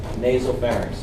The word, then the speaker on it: nasopharynx: That's spelled N-A-S-O, not nasal. One word, nasopharynx.